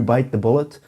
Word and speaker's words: bite the bullet: And the correct pronunciation of this is to stress or emphasize bite.